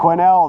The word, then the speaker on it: Quesnel: 9 March quinel BC quinel the S is silent it's a French name spent two nights at